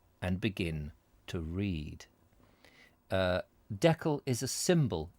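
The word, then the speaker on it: Deckle: is it is spelt it is spelt uh d-e-c-k-l-e that's i would have said that decal like jekyll but you know um anyway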